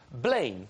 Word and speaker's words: Blaine: Blaine indeed. Are you just making these names up? What will I say? Rhymes with Dane. Blaine.